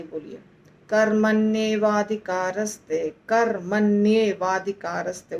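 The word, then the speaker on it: कर्मण्येवाधिकारस्ते: कर्मण एव अधिकार ते चारों का संधि है तो क्या बन जाता है कर् मने वाधिकारस्ते कर्मण वाधिकारस्ते तो यदि हम इसको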